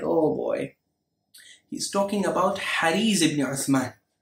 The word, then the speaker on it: Hariz: Some people mispronounce it Hurayz. No, it's Hariz ibn Uthman, a well-known Nasibi.